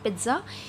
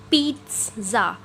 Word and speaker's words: pizza: It's not pizza, it's pizza. Okay, long P and then we have t sound, t and then za, pizza.